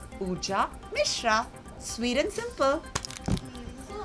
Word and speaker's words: Pooja Mishra: My name is easy and simple. It's Pooja Mishra. Like I said, not any of those, which I said earlier, but Pooja Mishra.